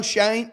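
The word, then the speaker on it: Schoen: Remember that video of Joe Shane uh Joe Shane, which I hate the way his name is spelled. Makes no sense to me. It should be shown, but Joe Shane, the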